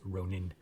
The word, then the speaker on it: ronin: pronounced the same, and they put as much emphasis on every letter, kind of thing.